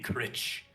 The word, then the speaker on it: Critch: So, how do you pronounce that? Crite? You can call me Critch.